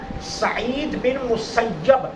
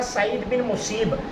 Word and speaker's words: سعید بن مسیب: رضی اللہ تعالیٰ عنہ، یہ یاد رکھنا سعید بن مسیب یہ اصل تلفظ ہے۔ پرسوں ایک دوست جہاں درس دے رہے تھے تو انہوں نے نام پڑھا سعید بن مصیب، سعید بن مصیب نہیں ہے، سعید بن مسیب یہ تلفظ ہے صحیح، ٹھیک ہے۔ حضرت سعید